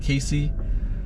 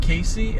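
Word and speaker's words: Cayce: I think you pronounced it Casey, South Carolina.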